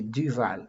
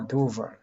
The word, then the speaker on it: Duval: I can say in another way Paul Dal in French you will say Dval. Paul Dval. In English we say Paul Duval.